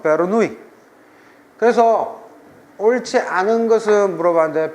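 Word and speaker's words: Bernoulli: 베르노리 스펠링 해올 때는 독일식 발음이 제일 좋아요. 베르노우 베르노울리 베르노울리 식의 기본 가족을 옳지 않은 것은 본토 발음 베르누이 그래서 옳지 않은 것은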